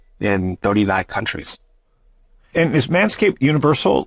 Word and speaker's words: Manscaped: Like, so in France, do they say Manscaped? They do. In Germany, what do they say? I can't say hair Manscaped. I can't say it with a German accent, but they pronounce it Manscaped also.